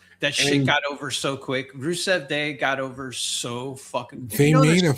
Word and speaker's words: Rusev: Rusev.